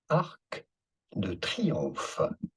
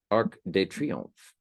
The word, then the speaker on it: Arc de Triomphe: Of this monument, in French, in France, we would call it Arc de Triomphe. Arc de Triomphe.